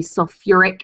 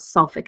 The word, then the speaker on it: sulfuric: solve and fast so h2 so4 will be sulfuric acid not suffolk acid and h3po4 is going